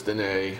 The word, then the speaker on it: Dîner: It's spelled like dinner, but it's Dîner Okay.